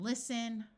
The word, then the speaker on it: listen: wrestle Apostle and whistle words ending in sen also have a silent T like in listen oi says oi so